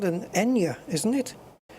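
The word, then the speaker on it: eñe: In Spanish, I think it's just called Enya in Spanish. A tilde. Or in the Spanish alphabet it's called Enya. Yeah, the letter is called Enya.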